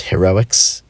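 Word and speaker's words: Heroix: Yeah, and one thing I really like about my game here, which I've decided to call Heroics with an X at the end, so like Hero X, but it's pronounced Heroics.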